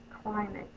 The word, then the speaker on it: climate: Cly, long I, syllable break right here, met. This silent E is not making the vowel in front of it say its long sound, A, climate.